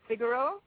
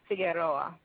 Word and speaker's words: Figueroa: say that the name is in Jamaica it's pronounced figuro and in the Spanish speaking world it's pronounced figero okay okay well you're certainly Jamaican I hear